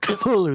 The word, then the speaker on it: Cthulhu: Cthulhu right I mean in um lovecraft's letters the way he said you pronounce it is it's like a cough it's like Cthulhu that's why he wrote it like that it's supposed to be unpronounceable by the human tongue right oh the internet